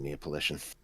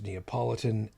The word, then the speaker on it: Neapolitan: i was always a fan of neopolition it's pronounced neapolitan and it's fine it's